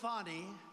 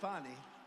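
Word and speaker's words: Fani: counts he worked with fonnie even though it's spelled Fanny f a n i fny how about that one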